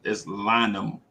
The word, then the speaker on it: Lynham: It's not Lehman. It's Lynham. Lynham is his name.